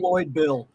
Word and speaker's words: ReploidBill: Is that how you pronounce it? Yes, it is. Yes, it is. It's Reploid Bill.